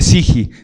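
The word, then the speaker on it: ψυχή: Alma se podría escribir algo así como puché y se pronuncia siji.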